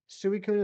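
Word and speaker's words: Suicune: Suicun is the correct pronunciation. Let's trade the rare cards. The same rarity. Dang it. Exactly, Amry. I would gladly trade you a Suicon.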